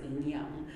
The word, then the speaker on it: yin yang: That's kind of what that is, but it's pronounced yin yang.